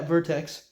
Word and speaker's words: Vertex: This is a Vertex piston, or Vortex, how you pronounce it. Yeah, Vertex.